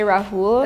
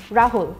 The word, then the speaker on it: Rahul: But the Rahul most of the people I've heard say, but don't exaggerate the U. Just cut it short. So, Rahul and Arjun Priya Anushka Anushka.